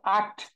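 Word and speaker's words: acht: বলি তো তাই না ইংলিশে বললে কিন্তু অ্যাক্ট বলতাম বাট এটা কিন্তু অ্যাক্ট না কারণ যার মানে এর যে উচ্চারণ সেটা কিন্তু আ হ্যাঁ এর যে উচ্চারণ সেটা হচ্ছে আ এর যে উচ্চারণ সেটা কি আ হ্যাঁ তাহলে কি হবে আক্ট ওকে আক্ট আক্ট আক্ট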